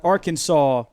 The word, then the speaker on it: Arkansas: We're heading out to Arkansas. See, the problem with that rhyme is that Arkansas, while it does rhyme with saw, It only rhymes with saw because it's literally the word Arkansas.